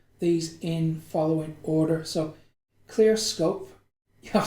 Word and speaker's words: Clearscope: So Clearscope, I've said it right this time.